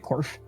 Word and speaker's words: Corf: that correctly is it Corf or is it no that's right it it's very simple to pronounce just like it's spelled okay I just wanted